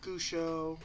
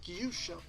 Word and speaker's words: Gyusho: played, stuff like that, they'd say Gusho or or whatever they thought how to pronounce the name. I pronounce it Gyusho.